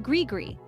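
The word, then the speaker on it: gris-gris: another interesting word is ggre pronounced grigri which refers to a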